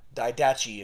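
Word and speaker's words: Didache: A.D it's um it's referred to as the dedicate if you want or die dachi if you want to pronounce it but the dedicate dedicate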